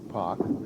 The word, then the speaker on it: Poch: now janice casey and i'll try to pronounce that as clearly as i can because it is janet janet park yes and this lady is j-a-n-i-c-e janus